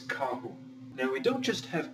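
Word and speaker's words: carro: start with the noun car as we learned before is kahu now we don't just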